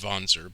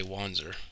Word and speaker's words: Wanzer: wanzer from this game well i mean it's pronounced vonser but i saw the word before i ever heard it pronounced so i always say wandser but yeah so there's a bit of a